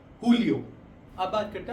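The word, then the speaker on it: julio: हैं हुन हुनियो हुनियो इसलिए क्योंकि हम स्पेनिश में जे को हम एच की तरह प्रोनाउंस करते हैं। तो जून हो जाएगा हुनियो। सेम अगर हम बात करते हैं जुलाई की जुलाई हो जाएगा हुलियो।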